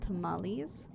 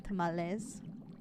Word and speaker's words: tamales: But there's a lot of things I do enjoy, like horchata and conchas and tamales, or I guess I could say tamales.